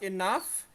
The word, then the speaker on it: enough: It fast enough and she has enough money. It bacanya enough not enough. Nah, bukan enough. G dan H itu melebur menjadi huruf F.